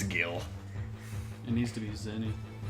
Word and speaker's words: Gil: No, I don't pronounce it Jill. It's Gil.